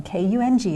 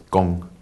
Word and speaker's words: Kung: is it pronounced properly so if you speak Chinese if you speak Mandarin Chinese it's gone but I grew up in Wisconsin and I go by Kung okay okay and it's